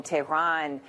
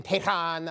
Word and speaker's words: Tehran: I'm not in Tehran, I'm in Tehran. Okay, just say it like you would say it here. Don't get cute.